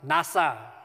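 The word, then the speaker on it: נָשָׂא: And if it helps, the word is actually pronounced NASA, right? So you can think of rockets lifting off.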